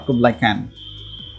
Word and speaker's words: Kubla Khan: Now, the title Kubla Khan, of course, refers to the great historical character Kubla Khan, or Kubla Khan as they pronounce it.